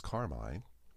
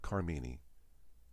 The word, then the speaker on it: Carmine: My real name is Carmine. Or as the UPS driver once said, package for Carmini.